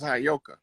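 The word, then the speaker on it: Heyoka: I was telling you that word is properly pronounced as Hayoka.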